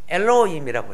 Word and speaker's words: 엘로힘: 발음을요 엘로힘이라고 해요.